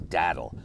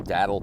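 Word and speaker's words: datil: Now, this is Dattle. It's spelled D A T I L. Uh, if if you just Google Dattle Pepper, St.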